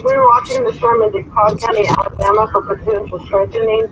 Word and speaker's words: DeKalb: Okay, so that's one of the ones where the L is silent.